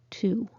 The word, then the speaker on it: two: with these three words answer sword two don't say the w so why is it